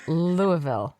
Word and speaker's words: Louisville: It's Louisville, right? Louisville, yeah. As long as you don't say the S, it is correct. Louisville.